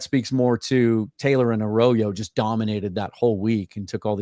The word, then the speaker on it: Arroyo: I always want to say Arroyo, but it's pronounced Arroyo.